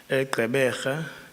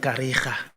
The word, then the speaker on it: Gqeberha: Apparently, people way back mispronounced it, call it Kariga.